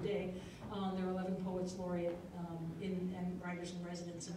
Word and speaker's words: Poets Laureate: So Poets Laureate, not Poet Laureates.